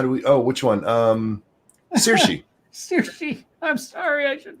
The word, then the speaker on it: Saoirse: How do you pronounce it, monkey? How do we? Oh, which one? Saoirse.